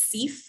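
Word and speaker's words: CEPH: accreditation body, which is CEF, the Council on Education for Public Health. So you may hear CEF talked about. That is how that acronym is pronounced.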